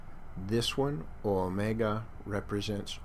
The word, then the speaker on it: omega: Omega, hear it, mega, big O, omega, is pronounced O. 2 beats.